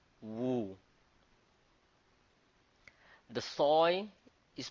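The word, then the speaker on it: 戊: The mountain is pronounced as Wu. Wu.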